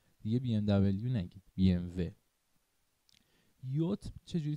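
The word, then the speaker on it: BMW: پس بی ام و رو که برند آلمانی هست رو فهمیدیم چرا میگیم بی ام و. پس بی ام دبلیو اشتباهه دیگه.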